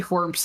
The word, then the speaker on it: Whormp: this horrible combat arena with these enemies called Whormps that hate me and everything I stand for, to pick up a map and then bounce. We'll see Whormps again.